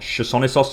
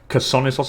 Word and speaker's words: Chersonissos: It's not Chersonissos, it's Chersonissos apparently. It's pronounced with a K.